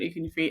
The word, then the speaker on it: Ekwunife: It's not that hard to pronounce, but yeah, Winifred Ekwunife.